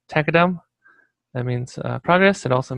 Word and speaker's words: tqdm: a tqdm it's uh the creator of tkdm pronounce it takadam that means progress it